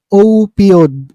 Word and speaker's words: opioid: opod opiod Okay so ang talagang basa pala rito guys opiod yan opiod yan So what are opiods